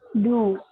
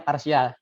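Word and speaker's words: ∂: Du. Nah, ini kalau Du kuadrat. Kalau saya bacanya bukan du. Ini saya bacanya parsial. Jadi ini dibaca parsial.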